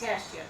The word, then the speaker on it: Tashjian: What is it pronounced? It's Tashjian.